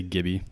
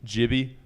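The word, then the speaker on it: GIBI: Is that how it's pronounced? G-I-B-I? The Gibby? I think they say Gibby. Gibby. Soft G.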